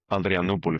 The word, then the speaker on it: Adrianople: to the Treaty of Adrianople. Is that the right pronunciation, or is that too Italian? The Treaty of... No, it's Adrianople for us, but it's fine.